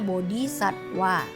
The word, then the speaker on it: bodhisattva: bodhisatta atau bodhisatwa ya tertulis bodhisattva bacanya bodhisatwa Ya adalah bakal Buddha